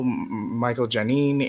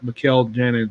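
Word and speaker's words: Mikel Janín: Also, Michael Janine and Jarrett Chu on 1 by 25 and 1 by The 50. name is pronounced Mikkel Janin.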